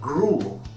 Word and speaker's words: gruel: The food he was asking for was actually called gruel. And what we're going to do rhymes with cruel. Yes, it does. And also rhymes with fuel.